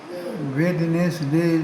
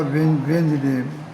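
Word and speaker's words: Wednesday: English में जैसे वेदनेस डे लिखा जाता है बुधवार के लिए। लेकिन बोला जाता है वेंज डे।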